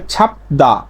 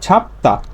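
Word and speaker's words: 잡다: তেমনই ভাবে ছাপদা না হয়ে সঠিক উচ্চারণ হবে ছাপতা, তাহলে প ধ্বনির একটা বর্ণ পাইছি বিউপ, তারপরে দ্বিগুত পাইছি, এই দ্বিগুতের উচ্চারণটা দ না হয়ে হবে ত, দ না হয়ে হবে কি ত, সাং দ্বিগুত, ছাপতা, ছাপতা।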